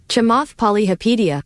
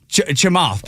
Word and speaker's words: Chamath Palihapitiya: Chamath Palihapitiya. You know what? You said it with confidence. I believe you. Siri, how do you pronounce that man's name? Chamath Palihapitiya. Chamath Palihapitiya.